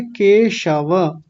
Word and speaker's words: केशव: और यहां कई लोगों का उच्चारण यह हो रहा था। केशव को केशव बोल रहे थे। स दंतीय सकार वाला स लगा रहे थे। तो क्या बोलेंगे? केशव।